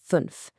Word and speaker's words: fünf: Shape your lips for a long U sound, but again try to say E. It's the sound right in our lesson number fünf. Let's say it together. Fünf.